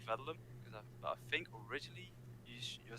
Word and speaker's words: Védelem: you pronounce that exactly so i think actually our pronunciation as we're not originally from hungary uh we're a little bit off but we say vedlum because i think originally